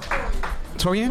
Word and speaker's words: Torian: Make some noise for Torian making their way to the stage. Did I say it right? Torian? Torian? Tori? Torian? Like Dorian. Oh, Torian.